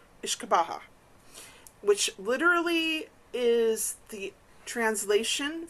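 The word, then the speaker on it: uisce beatha: So in the Irish term for whiskey is pronounced Ishka Baja. Ishkabaha which literally is the translation from old Irish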